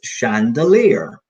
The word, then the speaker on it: chandelier: not be familiar with this one this is pronounced chandelier yeah so you know I think SIA are